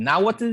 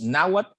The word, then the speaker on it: Náhuat: decimos náhuatl y no náhuatl verdad Y esto es porque a diferencia de las lenguas náhuatl de México el náhuatl salvadoreño no tiene el sonido que el sonido que se escribe con TL verdad Y por eso era